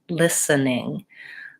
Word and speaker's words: listening: way so I will listening again there's in that word we pretty much don't say that T sound I don't say listening listening the T is silent listening let me know